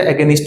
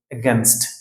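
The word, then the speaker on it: against: এগেস্ট India এরকম করে ঠিক আছে তো এটা এগেস্ট বলব না আমরা এটার সঠিক উচ্চারণ হচ্ছে এগেন্স্ট এগেন্স্ট এগেন্স্ট নট এগেস্ট এগেন্স্ট number সেইযে লিখে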